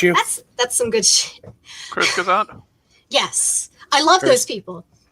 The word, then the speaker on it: Kurzgesagt: If anybody hasn't watched, I think it's Kurzgesagt is how you pronounce it on YouTube. Bless you. That's some good shit. Kurzgesagt?